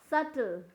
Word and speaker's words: subtle: तो यहाँ पे SUTLE, सटल, बट स्पेलिंग करने जाए तो क्या होगा, SUBTLE, सटल।